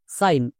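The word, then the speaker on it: sign: জন্য so plus আইন সাইন কেন কারণ আই জি এন এটা হচ্ছে ওয়ার্ড প্যাটেন এর জন্য আইন উচ্চারণ করবো যেমন এস এর জন্য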